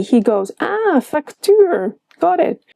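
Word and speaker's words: facto: The moment I added in the C, he goes, ah, factuur, got it. A funny one is factu. Here the C is pronounced, but I don't promise that's always the case.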